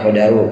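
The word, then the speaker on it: القدر: Bacanya al-qadaru, kalau al-qadru kadar ukuran, tapi kalau al-qadaru takdir, dalnya fathah.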